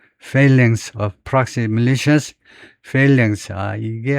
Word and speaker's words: phalanx: phalanx라고 읽을 것 같은데 발음서부터 그래서 거기 보면 우선 발음이 어떻게 되냐면 phalanx 앞에다 음절을 두네요. phalanx 앞에다가요. phalanx라고 있네요.